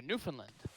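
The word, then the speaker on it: Newfoundland: Foundland it's Newland yeah almost almost pronounced like New Finland but it's it's run together New Finland yeah yeah no that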